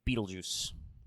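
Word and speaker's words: Betelgeuse: bright stars rygel and beetlejuice yes that is actually how you pronounce that star name now the constellation orion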